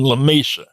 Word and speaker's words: Lamesa: So rather than La Mesa, they call it Lamesa. And if somebody's from there because they don't say La Mesa, they say Lamesa. But still spelled like La Mesa.